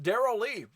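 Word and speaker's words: Darrell Lea: It's pronounced Daryl Lee.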